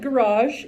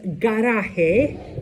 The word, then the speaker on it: garaje: But Do not pronounce it garage. It is pronounced garaje, el garaje, okay?